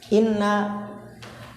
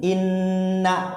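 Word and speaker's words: إنّ: Inna bikasril hamzati wa tasydidin nuni, dengan mengkasrohkan hamzah dan mentasydidkan nun. Inna, lihat no, dibacanya inna, jangan inna.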